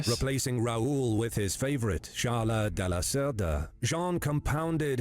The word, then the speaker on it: Charles: Like, this is probably like the most egregious mispronunciation so far. Like, it's Charles, right? I'm pretty sure there's some king of France called that too, Charles.